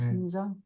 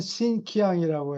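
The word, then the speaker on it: Xinjiang: 예, 신장. 예, 신장. 음, 이 유라시아 서에는 신키앙이라고 하는데, 어, 그건 옛날 발음이라고.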